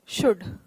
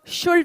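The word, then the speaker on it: should: अभी तक हमने देखा कि देखिए, कुड, वुड, शुड, ये तीनों मॉडल्स हैं, ठीक है. कुल्ड वुल्ड और शुल्ड नहीं बोलते हैं, इसे ध्यान रखें ये, ठीक है। इसका प्रोनाउंसिएशन जो है एल साइलेंट है, इन तीनों शब्दों में एल साइलेंट है, पहली बात।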